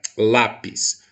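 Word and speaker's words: lápiz: vejamos aqui a palavra lápis ou chamar lá no portão lápis o lápis em qual sílaba eu entreguei maior potência vocal em lá olha só ela é a penúltima a sílaba a minha sílaba tônica é a penúltima da palavra ok então eu sei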